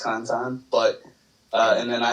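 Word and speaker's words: Cantan: spell it out can tan it's pronounced Kantan but uh and then I have a podcast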